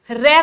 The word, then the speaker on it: र: भाई जब आप रे का उच्चारण करते हैं तो हमारी जीभ में एक वाइब्रेशन होता है, हमारी जीभ जो है वो कांपती है।